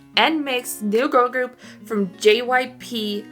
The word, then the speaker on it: NMIXX: NMIXX. NMIXX, new girl group from JYP, or they were known as JYPN.